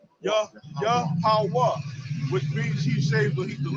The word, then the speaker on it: Yahweh: now, when you said it in the Paleo Hebrew, like how is it supposed to be pronunciated? It's Yahweh. Yahweh.